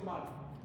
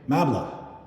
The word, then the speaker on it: Mbala: Officer Mbala. Officer Mbala. I can't hear you. I'm sorry. Mala? Yeah, Officer Mbala. Mbala. Can you spell it? M-B-A-L-A. MBA Mabla. No. M-B-A-L-A. Mbala. Mbala. Yeah.